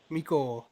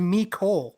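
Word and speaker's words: Mecole: eagles uh mikhail hardman miko yeah wow i just correct the way i pronounced the french name it's me it's not french his name is me cole yo go burn some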